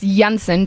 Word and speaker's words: Janssen: this is spelled different uh it's Jensen don't worry about it it's j-a-n-s-s-e-n no it's okay I